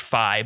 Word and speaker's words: Fi: fee in general and I know that it's technically pronounced Phi but I don't think any of us care we're just gonna go with fee because it sounds better I do not care